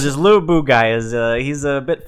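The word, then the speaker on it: Lü Bu: no his name is Lou boo it's very difficult I'd say I say his name Lou Lou boo it's Lu Bu should change it to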